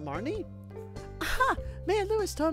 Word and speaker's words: Marnie: you hello Marnie Martin is that are you pronounce that you pronounce it Marnie aha may have always